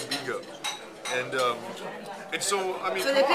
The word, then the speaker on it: Vigo: but we landed at 4, and the plane doesn't leave till 7:20 for it's spelled Vigo, but it's said Vigo.